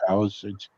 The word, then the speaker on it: Palisades: Is that how it's pronounced? Yep. Palisades.